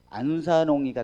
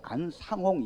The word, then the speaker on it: 안상홍: 그래서 히브리서에서 안산홍이가 태어나기 때문에 이 부분을 하게 됩니다. 자, 먼저 이 안산홍이라고 하는 안상홍, 제가 발음을 간혹 안산홍 이러는데 안상홍 이게 쉽지 않아요.